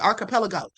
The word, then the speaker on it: archipelago: I mispronounced it. Archipelago.